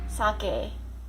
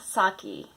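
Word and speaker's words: 酒: Number 2, sake, not sake, okay? The Japanese rice wine. So many people say sake, but sake is a Japanese female name.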